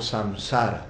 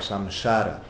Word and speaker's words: samsara: O famoso samsara, né? Samsara ou samshara, depende como se pronuncia, um sonho.